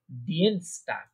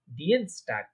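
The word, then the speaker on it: Dienstag: ডিয়েনস্টাগ। ডিয়েনস্টাগ। হ্যাঁ, কারণ দেখেন আই আগে ই পরে, তাহলে ডিএনস, আই আগে ই পড়া থাকলে কি বলছি? ইয়ে, ইয়ে উচ্চারণ, তাই না? ডিয়েনস্টাগ।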